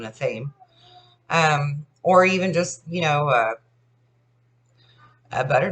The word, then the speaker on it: athame: and you have what we call an athame or an athame. Some people pronounce it athame. I call it an athame.